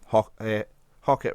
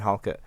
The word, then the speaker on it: Halkett: All the Livingston fans got annoyed at me because I used to call him Hockett rather than Halkett. He's got an L in it, which I forgot, and I'll spell it wrong on Twitter as well.